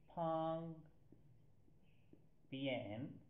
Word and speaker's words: 旁边: Its sound, pronunciation, or phonemes are written as Phang Pien.